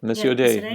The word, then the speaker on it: Missio Dei: churches and dioceses and to live out the Missio Dei. How do you pronounce this? Yep, Missio Dei, mission of God.